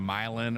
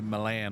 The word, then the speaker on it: Milan: name right instead of some redneck saying Milan or something like that. He had to remind me it was Milan, like they actually say it in Italy.